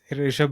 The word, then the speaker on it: Rishabh: Rishabh Bhattarki. Yeah, yeah, Is that how you saw pronounce his name? Yeah, right. yeah. Rishabh Nice.